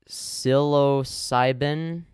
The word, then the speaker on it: psilocybin: so many of those in the past it's pronounced psilocybin it's the psychoactive compound and psychedelic mushrooms based